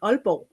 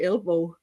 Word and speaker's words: Aalborg: Sarah Alborg. Is that the right way to say that, your last Yeah, name? it's a strange word. It's called Aalborg. Oh, you don't Yeah, even and pronounce the G.